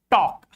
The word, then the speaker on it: talk: If you see L before these four letters, you should have a clear picture. You should have in the mind the pronunciation of the word in which L is going to be silent. Like talk.